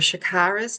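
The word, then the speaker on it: chakras: This is how we want you to say it. This is the original correct pronunciation. We want your shakaras to be open and expansive. Shakara.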